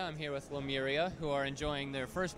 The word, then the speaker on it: Lemuria: pronounce it but the way that we all pronounce it is lemuria lemuria okay probably okay it's not as nice